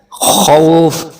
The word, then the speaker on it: خوف: من خوف, یہاں خو کو موٹا کر کے خوف.